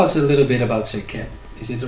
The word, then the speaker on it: SEKHEM: Well, the pronunciation of SEKHEM is more, it has a very unique sound that isn't in the English language. It is in the Semitic languages, and it has a more of a ch sound. So it's like SEKHEM, and that's traditionally closer to what it would be said, how it would be said.